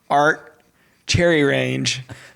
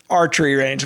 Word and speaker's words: archery range: And every week he puts in a fake name, and last week it was Art Cherry Range, and I couldn't freaking get it, and I kept saying Art Cherry Range, cherry.